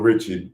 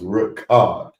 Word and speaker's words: Richard: Dawn Richard, some of y'all may call her. But she said it's pronounced Ricard, right?